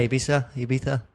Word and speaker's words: Ibiza: And you lived in, how do you say it, Ibiza? Yeah, Ibiza. Depends if you're Spanish or English.